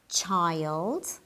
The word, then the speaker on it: child: and boys in general remember that the i in child and children are pronounced in different ways let's have a look